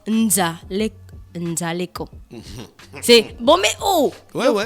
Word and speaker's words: Nzali Eko: Donc Lorraine et Ariel m'ont dit qu'on prononce Nzaleko.